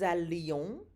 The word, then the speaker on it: allions: Listen to the pronunciation. Que nous allions, que vous alliez. Did you hear the strong L sound? So those double L's there do not sound like a Y.